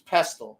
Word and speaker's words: pestle: It's spelt phonetically with the T, right? So that it looks like it says pestle, but it's actually pestle, mortar and pestle.